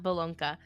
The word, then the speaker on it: Bolonka: The Bolonka offers loyal companionship in a small dog package tailor-made for snuggling on its owner's lap.